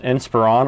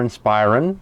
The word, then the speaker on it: Inspiron: Today we're going to be talking about this Dell and Inspiron, or Inspiron, depending on which method of thought you use on determining the pronunciation.